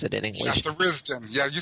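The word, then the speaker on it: Tharizdun: For instance, the Forgotten Temple of Theristun, or Theristun, I don't know how you pronounce it in English. Yeah, Theristun.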